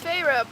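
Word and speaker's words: Feyre: in there like PHA her name's phra but it doesn't look like phah it looks like fairy it sounds like fairy what is with Sarah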